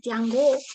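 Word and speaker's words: 天狗: estaban estos perros celestiales tiango es pronunciarlo bien eh que que eran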